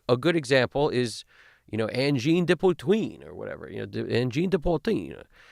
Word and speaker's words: Angine de Poutine: I think it's like Angine de Poutine. I think that's how you're supposed to say it.